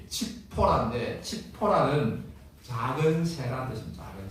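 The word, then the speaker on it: 칩포라: 뭐 해요 10보라는 이제 원래 원어 발음이 칙포라인데 치포라는 작은 새라는 뜻입니다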